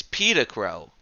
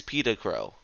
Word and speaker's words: Pedicrow: Our next one is Pedicrow. That first E may look like an A, but it is Pedicrow.